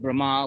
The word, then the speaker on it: Brahma: celestials remember we had Brahma with a long a is the first of